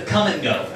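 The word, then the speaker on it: Kum & Go: I saw a series of service stations called the Come and Go. And I'm not making this part up. It's spelled K-U-M, space N, space G-O.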